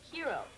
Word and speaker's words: hero: Yeah, but in English, we pronounce the H. Hero.